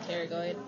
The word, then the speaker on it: pterygoid: then you have your pterygoid plates. There's a P in front of it, but they're actually pronounced pterygoid.